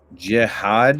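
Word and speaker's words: Jihaad: Jihad, is that how you pronounce it?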